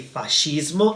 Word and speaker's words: fascismo: ideas, which is called fascismo. Notice that in Italian, all the words ending in ism, we do not pronounce them isms, but we say ismo.